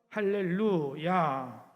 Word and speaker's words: 할렐루야: 그래서 할렐루야 이렇게 발음하는 것이 옳다는 것입니다. 만약 할렐과 또 루야를 띄어서 발음하게 되면 그건 잘못된 거예요.